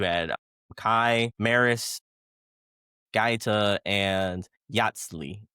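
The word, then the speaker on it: Yatzli: You had Kai, Maris, Ga, and Yatsi. Yatsi, I believe is how how she pronounced their name.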